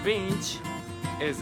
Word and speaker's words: Binti: And first, please tell me about Binti is a pronunciation. Yes, Binti.